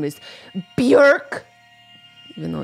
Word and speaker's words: Björk: Her name is Björk. Even though it's spelled like Bjork, and sometimes I say Björk. It's Björk. It's pronounced Björk.